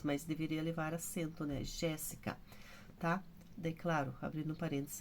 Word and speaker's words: Jéssica: Jéssica, Jéssica, ó, o Gé, terceira, antepenúltima.